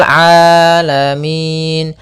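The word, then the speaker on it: العالمين: mengalir kemudian di sini huruf Ain hati-hati jangan sampai merubah huruf ainnya menjadi Hamzah banyak yang terjadi kesalahan dalam pelafalannyaitu meng dengan Alif atau Hamzah maka dibaca rabbil alamin harusnya rabbil rabbil alamin alamin ya rabbil alamin Kemudian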